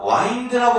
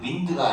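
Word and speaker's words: wind: 자, 와인드라고 발음합니다. 요거 와인드. 와인드. 윈드가 아니에요.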